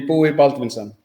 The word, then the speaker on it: Buí Baldvinsson: It's in Icelandic. It will be Buí Baldvinson. Buí Baldvinson.